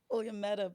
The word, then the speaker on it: Williametta: No, it's William and Etta. So Oh, Williametta. so they put two need together.